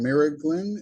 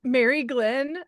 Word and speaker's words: Mary Glenn: get your name wrong Mir Glen is that how you say it or close it's Mary Glenn Mary Glenn okay yeah